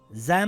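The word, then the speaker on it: ز: Za makes a similar sound in English to the letter Z in the word buzz or the word zoo.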